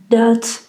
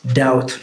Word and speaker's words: doubt: So, so we don't say, we say doubt, doubt.